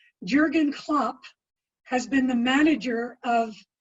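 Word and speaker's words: Jürgen Klopp: athletics and the question says I hope I'm pronouncing his name right Jurgen Klopp has been the manager of Liverpool since 2015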